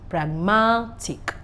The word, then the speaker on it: pragmatic: Just know that once I have words that end with T-I-O-N, S-I-O-N, I-C, the stress should be on the second syllable from behind. Education, decision, all right? Pragmatic.